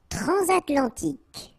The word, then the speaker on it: transatlantique: Transatlantique. Okay, so at the end, tic. Remember Q-E, K. Okay. Transatlantique. Transatlantique. Tribal.